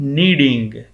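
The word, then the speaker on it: kneading: की चौथी मानती है गूंथने की नीडिंग क्या नीडिंग खास का साइलेंट है और ना आगे क्या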